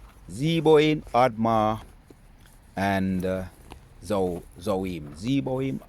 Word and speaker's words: Zeboim: Let's go in and I remember the pronunciations of the Zebo, Admar, and Zo Zohoim. Zeboim, Admma, and Zohar.